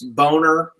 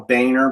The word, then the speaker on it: Boehner: This Boner, they call him Boehner, but his name is spelled Boner.